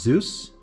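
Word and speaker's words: Dzus: They're actually pronounced Zeus.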